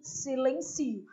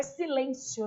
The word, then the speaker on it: silencio: A sílaba tônica é o si, silencio. Não é silêncio, né?